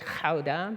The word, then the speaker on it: Gouda: I think most people call it Gouda. My family calls it Gouda, because it's how you say it in Dutch.